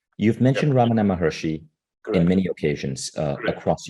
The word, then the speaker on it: Ramana Maharshi: lesson could you say that name again I'm mispronouncing it Ramana mahershi you've mentioned Ramana Maharishi in many occasions uh across your book tell